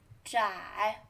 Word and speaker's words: 窄: Third tone, 窄.